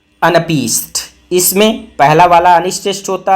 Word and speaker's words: anapest: अमफीबक अमफीबक अगला है अनपीस्ट इसमें पहला वाला अनिष्ट होता है फिर एक अनष्ट स्ट्रेष् मतलब दो अनस्ट्रेस्ड होते हैं और फिर एक स्ट्रेस्ड होता है। तो आपको कैसे पढ़ना है? अ न पीस्ट अ न पीस्ट।